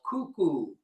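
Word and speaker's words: Kuku: All right, so so we have, we did another rhythm, fairly easy, called cuckoo. Cuckoo, K-U-K-U. Most of the time it's spelled like that.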